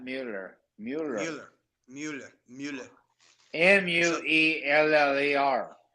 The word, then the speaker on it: Mueller: school TVs Mueller not Mueller Mueller Mueller Mueller m-u-e-l-l-e-r right it's Mueller if you want to pronounce it but this is a family that